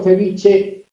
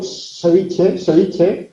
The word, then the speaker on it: ceviche: pronunciación, que es que yo pronuncio ceviche situando la lengua detrás de los incisivos superiores, en lugar de situar la lengua sobre los alveolos que están encima. No digo ceviche, como dicen en Lima, digo ceviche.